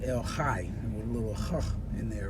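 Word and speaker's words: El Chay: word c-h-a-y i guess in english we would say el chei but it's pronounced el hai with a little in there right el hai and he's the living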